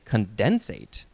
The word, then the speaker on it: condensate: It is the word condensate. And it looks like you can also say condensate if you want to emphasize that syllable.